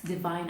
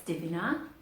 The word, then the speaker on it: Divina: it's by a company called Divina I think that's how you pronounce it and let's Divine now but it's Divina and this this one